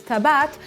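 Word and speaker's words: טבעת: with all this wedding talk today's word is Tibet which is how you say ring in Hebrew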